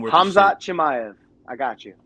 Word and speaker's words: Khamzat Chimaev: Gilbert Burns versus Chazvat. I can't pronounce his name. Khamzat Chimaev. I got you. Khamzat Chimaev. The K is silent. The K is silent. Khamzat Chimaev.